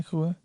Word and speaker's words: Kaluuya: Daniel Kaluuya. Yeah, Is that how you say it? Yeah, Kaluuya.